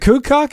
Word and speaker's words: Kukuk: Is it Kukuk?